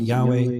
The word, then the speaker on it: Yahweh: We pronounce it Yahweh.